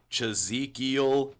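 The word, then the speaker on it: Chazekiel: to find me on Facebook, I go by Chzekiel. I'll spell that one time for the people that are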